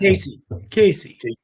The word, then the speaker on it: Caissie: Caissie.